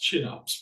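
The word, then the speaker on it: Kinnarps: having any packaging there's a company called It's pronounced chinups but it's pronoun it's spelled kops k Arps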